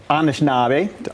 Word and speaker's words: Anishinaabe: You know, we sit on the ancestral lands of the Anishinaabe, I said it right, Yep.